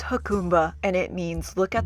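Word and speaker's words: Jacumba: it pronounced Akuma I think it's pronounced huh khumba yes it's definitely pronounced huh khumba and it means look at the water in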